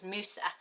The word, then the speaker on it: Musa: is slightly different but in british english it is a stronger beginning and then the it's quite short as moosa um and it's really